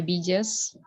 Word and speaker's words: biggest: Beside is one of the biggest. Bukan biggest. Airlines. Bukan biggest ya. Biggest huruf G. Yes, kalau sure. ini dibaca huruf G. Bukan J ya.